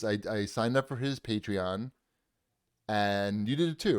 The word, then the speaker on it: Patreon: podcast that is on patreon patreon patreon is how you say it don't patronize me yes depends where right yes